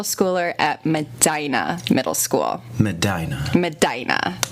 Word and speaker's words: Medina: A source in Ohio has told me that it is not Medina Middle School, but it's Medina. So Travell Henley was a middle schooler at Medina Middle School. Medina, not Medina.